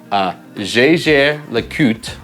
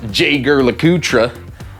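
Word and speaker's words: Jaeger-LeCoultre: Next, I would go for JAEGER LECOULTRE, for y'all that don't know how to say it right. All you ingrates, JAEGER LECOULTRE, Polaris, right?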